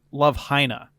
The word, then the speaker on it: Love Hina: something about that episode it's actually pronounced Love Hina just had to throw